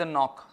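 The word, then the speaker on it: knock: है ना हो गया जैसे एक शब्द नॉक के एओ सी के अब ये के क्यों साइलेंट है अपन साइलेंट पर एक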